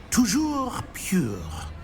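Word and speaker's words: toujours: Tojour.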